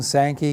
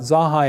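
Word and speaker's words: Zanja: water records and then after you get used to saying sankey guess what it's a whole lot easier than saying zaha but zaha is really the correct per correct pronunciation of a name that goes back to 1819 in redlands i called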